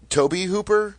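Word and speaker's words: Tobe Hooper: the Masters of Horror Season Two directed by Toby Hooper is that how you pronounce it guys yes I mispronounced that for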